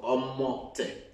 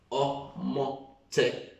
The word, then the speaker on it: omote: What if I ask you to write the word Omote? Omote. Omote. You can see that O. The moment you break the syllables, we are able to get clearly the pronunciation of omote.